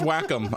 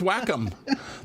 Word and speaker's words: Wacom: on that no idea Wacom what yeah it's pronounced Wacom I swear it's pronounced Wacom that is how they pronounce it I would